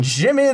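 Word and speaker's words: Djimmi: Jimmy the Great. Ah, that's great. Because it's spelled like gin, but it, yeah.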